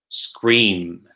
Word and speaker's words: scream: lower lip and our upper lip should touch on pronouncing words ending in M so for example scream yeah the other one